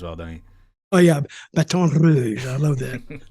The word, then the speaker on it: Baton Rouge: Oh yeah, Baton Rouge. I love that. The roll the R, Rouge. But I was with the Rock and Roll Express.